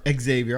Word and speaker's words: Xavier: or Xavier. I call him Xavier, but they pronounce it as Xavier.